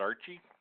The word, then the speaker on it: RCHE: it's a mouthful so we just use the acronym and pronounce it Archie and the Regan Street